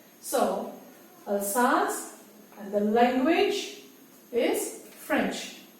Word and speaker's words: Alsace: Okay, remember, this is a place in France, in the country of France, and so the pronunciation is also slightly different from how we would pronounce it if it was an English word.